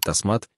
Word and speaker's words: Тасмат: Оно состоит из двух частей, таз, что означает 10, и мат, значение которого палец. В итоге имя произносится как тасмат, и значит оно 10 пальцев.